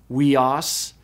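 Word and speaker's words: υἱός: Upsilon iota is pronounced we, as in sweet. And so the Greek word for sun is pronounced weos, weos.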